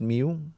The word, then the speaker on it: mu: whole population we'll use Mew so it's it's it's pronounced Mew like the Pokemon um it's it's not